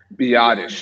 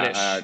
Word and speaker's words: Biadasz: Okay, what about, am I pronouncing his name right, Biadasz? Biadasz. Yeah. Biadasz.